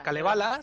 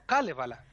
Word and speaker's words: Kalevala: Y el finés es justo lo contrario. Todas las palabras se acentúan en la primera. Por eso no se dice Raikkonen, por ejemplo, sino Raikkonen. Ah, vale. No es Kalevala, sino Kalevala.